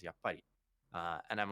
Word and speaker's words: yappari: he was like hm i think you're saying yup buddy wrong because it's a word in japanese and i was saying it yep and it's correctly the correct pronunciation for it is yap uh and i'm like